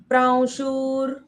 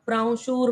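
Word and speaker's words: प्रांशुः: हां उपेंद्रो उपेंद्रो वामन प्राशुर उपेंद्रो वामन प्राणशूर प्राशुर यहां पे ऊपर जो व बन जाता है वो अनुस्वार प्राशूर उपेंद्रो वामन प्राशुर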